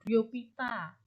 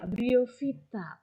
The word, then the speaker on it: Bryophyta: ngomongin bahasa Latin eh phy itu bacanya v tapi entah kenapa eh bibir saya lidah Saya tuh Indonesia banget gitu ya bacanya talopita gitu briopita padahal harusnya Kal Vita briovita teridovita gitu tapi y wiso gitu